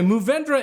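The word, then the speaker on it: Mourvèdre: God okay but anyway movendra is at least the way the grape name is pronounced in French geez that was a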